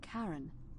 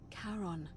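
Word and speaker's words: Charon: it's just as you described it only your pronunciation is a little off the name you heard wasn't Caren it was c h a r o n as in karon the Fairman of the Dead karon who in exchange for the right coin helps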